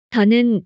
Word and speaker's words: the: 어떻게 써야 하는지 알아보겠습니다 더는 더 그리고 디 두 가지로 발음합니다 대부분 더로 발음해요 더